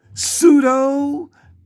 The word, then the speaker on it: pseudo: Pseudo, as in false, it starts with the P, but the P is silent.